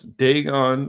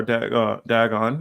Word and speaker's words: Dagon: Now, for those people don't realize, Dagon or Dagon, either way you want to pronounce it, is a Canaanite god.